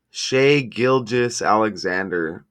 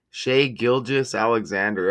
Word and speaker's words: Shai Gilgeous-Alexander: No, the pronunciation of his name in English is as Shai Gilgeous. It's hard. Shai Gilgeous-Alexander. I don't know why I always hear Gilchrist. Shai Gilgeous-Alexander.